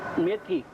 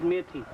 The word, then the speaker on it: methi: methi. Its name is methi.